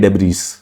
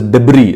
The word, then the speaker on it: debris: तो उसको कहते हैं डेब्रीज, डेब्रीज। However Lianshi, this is called as debris. This S is silent.